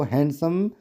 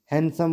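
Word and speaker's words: handsome: अब हैंडसम जो है इसमें डी साइलेंट है, इसको हैंडसम नहीं बोलेंगे, हैंडसम बोलेंगे।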